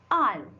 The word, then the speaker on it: aisle: Aisle. Go through this aisle, right? The bride is coming through the aisle. This is aisle. What is island? Debris. Aisle. Here what is there? Your letter S is silent.